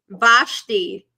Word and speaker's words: Vashti: Vashti. Vashti, yeah. Brother Stedman said it's Vashti. That's what I thought. So was I saying it right? Vashti.